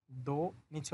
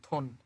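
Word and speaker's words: 돈: কথা দ্বিগতের সাথে ও, দো, নিচে হচ্ছে ন, দোন। কিন্তু এটা দোন হবে না, এটা হবে থন। এই যে দ্বিগুত শব্দের শুরুতে আসছে এই জন্য এটার উচ্চারণ ধরতে হবে থ।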